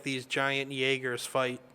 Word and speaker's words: Jaeger: It's the German pronunciation, or Jaeger means hunter in German.